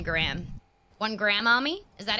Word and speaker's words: Graham: Where we just say Graham like a gram of... Yeah, like G-R-A-M, Yeah, like there's not all the extra sound.